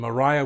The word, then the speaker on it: Maria: her and of course we pronounced it they pronounced the name mariah but it was actually spelled like we would say maria maria or Mariah would worth